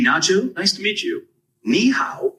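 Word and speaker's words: 你好: Ni hao is pretty straightforward to pronounce. It sounds like ni hao. Just make sure to keep the ni part high and then go down and pitch on the how.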